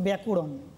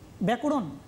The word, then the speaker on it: ব্যাকরণ: ধরো আমি একটা উদাহরণ দিই, ধরো ব্যাকরণ। ব্যাকরণ, এই যে ব্যাকরণ শব্দটা আমরা প্রথমে উচ্চারণ করব। কীভাবে উচ্চারণ করব? ব্যাকরণ না, ব্যা ক রণ।